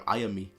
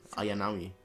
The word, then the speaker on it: Ayanami: I've said her name wrong the whole time. Ayanami. Ayanami.